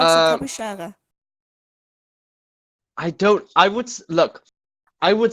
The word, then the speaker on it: Tapejara: I pronounce it Tapejara. I would say Tapejara, personally. Even though I've heard people call it Tapejara or Tapejara. But just go with Tapejara.